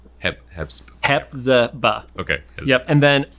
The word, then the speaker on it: Hepzibah: So that's Hezbollah. Okay. Hepzibah. Hepzibah.